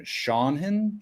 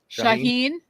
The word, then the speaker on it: Shaheen: to say his name shanen shaan shaan Shaheen Shaheen okay sorry not even close Shaheen guy's got this